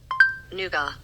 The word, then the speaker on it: nougat: checked okay here we go what is nougat noua a candy made from sugar or honey nuts and egg white European pronunciation for the win yeah and it even